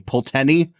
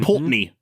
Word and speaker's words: Pulteney: how to pronounce because there is an e in there that I I didn't know if it would be pronounced kind of like uh the baleni like if it's going to be peni it's just py there's like 177 e